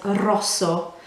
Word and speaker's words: rosso: that's a rosa and the word for red is rosso as you can hear when i say it it's really important to roll r at the start it's the difference between sounding like you know italian and and not it just adds an accent